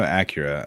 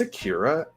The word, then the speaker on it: Akira: i know i know acura uh in your name i don't know your name um it's akira acura's a car i think i think